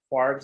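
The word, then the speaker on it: kwargs: Is it KWARs, Quargs? How is that spoken in industry? I pronounce it Quargs just because it flows a little better.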